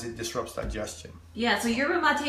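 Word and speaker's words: yerba mate: disrupts digestion yeah so yur mate is spelled like Yura mate you guys yeah yur mate y e r b a m at te and you'll see it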